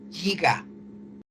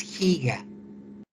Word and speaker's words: giga: Ya sé que alguno de ustedes dice giga, porque lo ha escuchado del inglés, pero no, es giga. Estamos en México y hablamos español, y todas estas prefijos se pronuncian en español.